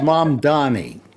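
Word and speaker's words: Mamdani: It's mom Donnie.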